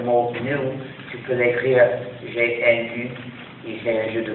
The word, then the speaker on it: GNU: que selon le dictionnaire le G et nu et le mot se prononce N c'est-à-dire nouveau donc chaque fois que tu veux écrire le mot new tu peux l'écrire GNU il c'est un jeu